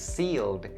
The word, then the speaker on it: sealed: And then the next one, also the last one, is sealed. Sealed. This word has the long E sound as opposed to the short E sound in the word lips.